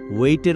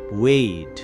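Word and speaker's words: wait: পেইডের উচ্চারণ হবে পেইড, আর ওয়েটের উচ্চারণ হবে ওয়েট। আমরা সাধারণত ওয়েট উচ্চারণ করি, যা একদম ভুল।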